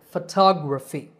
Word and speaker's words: photography: syllable fo so photograph the next two words are photographer and photography in these words the stress is on the second syllable it becomes a long top and the other vowels become short so photographer photographer and similarly photography the last word is